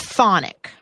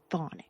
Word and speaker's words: Chthonic: Chthonic. You don't pronounce the CH. Okay, that would make sense. Chthonic.